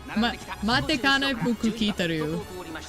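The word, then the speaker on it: Matikanefukukitaru: I know how to pronounce it, but I still pronounce it wrong because I put the wrong emphasis on the wrong syllable.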